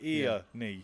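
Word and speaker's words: Earnie: He spells it E-A-R-N-I-E. Most people would spell it E-R, with an A. He's like ear-knee.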